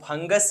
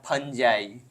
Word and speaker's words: fungi: तो study of फंगस या फंगी या फंजाई, कुछ कुछ का प्रोनाउंसिएशन जो है चेंज रहता है। कोई फंगी बोलते हैं और कोई फंजाई बोलते हैं।